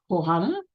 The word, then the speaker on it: Johanna: How would you pronounce that in Spanish? The J is an H in Spanish. Johanna, I guess, who was said to wear rose-scented perfume.